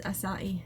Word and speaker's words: acai: too you acai berry I almost said it wrong but it is acai berry I'm pretty sure that's how you say it's not a case